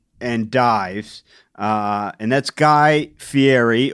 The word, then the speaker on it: Fieri: Dives uh and that's Guy Fieri or as he uh for some reason pronounces it fiti uh he does yes